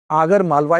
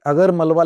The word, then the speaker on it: आगर मालवा: तो याद रखना है आपको, आगर मालवा इसको कहा जाता है। यहाँ पर हालांकि अगर मलवा लिखा है लेकिन इसका उच्चारण आगर मालवा कहा इसको कहा जाता है, ठीक है।